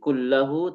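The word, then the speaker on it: كُلَّ: Dibacanya kulla, bukan kullu atau kulli, karena memang jaisha mansub sebagai maf'ul bi, ya.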